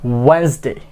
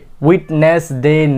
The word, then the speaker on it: Wednesday: ওয়েডনেসডে, ওয়েডনেসডে, ওয়েডনেসডে। কি হবে এটা? ওয়েডনেসডে, ওয়েডনেসডে, উইটনেসডে না, ওয়েডনেসডে, ওয়েডনেসডে।